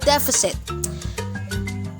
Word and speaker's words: deficit: the usi deficit deficit now stress and as a first syllable deficit deficit because the company